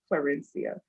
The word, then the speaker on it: Clarencia: But I love my name and that I am the namesake for my father, Clarencia.